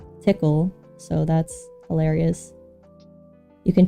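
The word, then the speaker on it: Tcl: you can choose between TC which I learned is pronounced tickle so that's hilarious you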